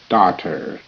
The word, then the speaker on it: daughter: cup and a saucer daughter d a d t tur daughter GH is silent mother daughter and father